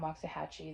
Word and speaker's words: Waxahachie: So I went to Waxahachie, and if you're not from Waxahachie, that is the way we pronounce it, which is just the next big box store up.